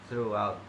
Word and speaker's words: throughout: First, Thursday and throughout. This word is pronounced with a T sound. Thursday or through. It should use the voiceless dental fricative, making it Thursday or through, throughout.